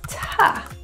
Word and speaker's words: to: a further lesson, but you will hear the word T-O pronounced as ta rather than to. The rule here, and we